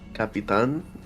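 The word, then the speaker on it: Capitán: Capitan, it's how you say it. It is. It's in Spanish.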